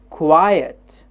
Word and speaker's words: quiet: word which is quiet quiet quiet quiet you see there's a jump up at quai and jump down at earth quiet yes quiet so we